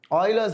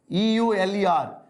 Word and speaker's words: Euler: constant or euler's number euler's number means e-u-l-e-r uh it's pronounced as euler not euler but everybody calls euler it's okay okay names can be pronounced anyway it's does it's not a big issue so it's okay you can call it jeweler or euler doesn't matter i'm not gonna get